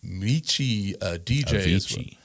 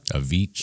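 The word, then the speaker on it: Avicii: Uh, also involves Anthony Bourdain and, uh, Mei DJI. Huh? Avichi. Avichi. My bad. I'm sorry for mispronouncing.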